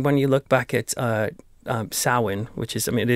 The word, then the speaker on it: Samhain: example I mean when you look back at sewing which is I mean it is spelt some Samhain it's not that way pronounced sewing and back then for the kind of the